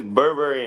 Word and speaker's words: Burberry: So it's Burberry and gold. So like Burberry, like the designer, Burberry and gold.